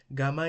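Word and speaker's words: γάμμα: Gamma is pronounced like G in go.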